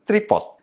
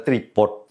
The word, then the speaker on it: tripod: yang benar adalah exposure tripod atau tripod bahasa Inggrisnya sering disebut dengan tripod dengan huruf t di belakangnya yang benar adalah tripod atau tripod time laapse sering